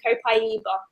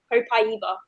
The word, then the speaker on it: copaiba: how you pronounce it proper way is actually copaiba copaiba a eva okay yeah